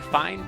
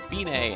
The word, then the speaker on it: fine: It looks like fine, but it's pronounced fine, and it means it's the end, the finish.